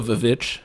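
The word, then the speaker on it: The VVitch: Or The Vivitch, if we're with the correct pronunciation.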